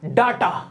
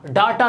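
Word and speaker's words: data: और आखिरी हमारा डाटा। डाटा नहीं होता, ये होता है डेटा।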